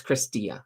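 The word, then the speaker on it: Chrystia: happens um let's see did I get her first name wrong um well yeah I think it's it's chrisa it's chrisa but I'm I imagine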